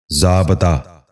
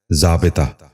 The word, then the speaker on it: ضابطہ: ہیں۔ پہلا لفظ ہے ضابطہ۔ یہ غلط تلفظ ہے، درست تلفظ ہے ضابطہ۔ دوبارہ سنیے، ضابطہ۔ بچوں